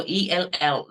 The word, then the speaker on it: L: So ELL, that is the pronunciation. L, not yell.